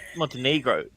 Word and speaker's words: Montenegro: No, it's Montenegro.